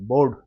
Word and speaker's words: baud: चलना देखुना 16 नंबरटा the term bowed BAUD बोर्ड बोर्ड ना pronunciation अपन manage करिए बोर्ड इज ए मेजर